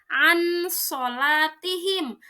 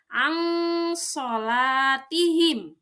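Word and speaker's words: عن صلاتهم: Nun sukun itu harus dibaca samar, tidak dibaca an solatihim ataupun dibaca idgham as solatihim, tidak. So itu huruf ikhfa, ikhfa artinya samar, maka dibacanya ang solatihim.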